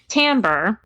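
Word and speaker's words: timbre: to learn well put you on the spot Tambor which is spelled TI m BR e so it's the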